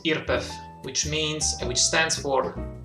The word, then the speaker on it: IRPEF: income in Italy is called IRP EF or pronounced Earp F which means which stands for imposters who ready